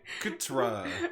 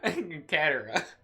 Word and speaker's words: Katara: Ska and Katra. Katara.